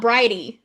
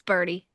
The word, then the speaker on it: Bridie: It's not, I think it's pronounced Birdie. Yeah. Because it's not Bridie. It's Birdie.